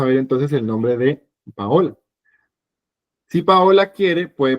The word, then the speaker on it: Paola: Entonces sería una L larga. Paola, Paola. ¿Lo ven? Paola. Pero si ustedes escriben, ahí diría Paora, Paora.